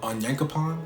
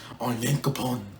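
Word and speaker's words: Onyankopon: like hanj later and episode talking to uh on yankapon that's how you say his name when i'm not butchering it on yankapon but um yeah they're talking they're chatting up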